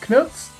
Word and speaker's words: CNTS: It's spelled CNTS, Charlie November Tango Sierra. To be diplomatic, we'll use the name Knuts and their album Thoughts and Prayers.